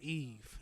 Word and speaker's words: Yves: So my middle name is Eve, and it's French, and it's spelled Yves, like YSL.